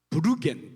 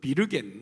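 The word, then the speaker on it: würgen: R 이렇게 음라우트 이렇게 브루겐 또는 비르겐 이렇게 이제 발음하는데 이 단어에서 worry라고 하는 단어가 파생이 됐거든요.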